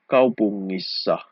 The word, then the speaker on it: kaupungissa: Okay, the sound is like the word singer.